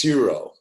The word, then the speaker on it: gyro: What it looks like is gyro, but it's like the G isn't pronounced with the J. It's like more like an H, gyro, right.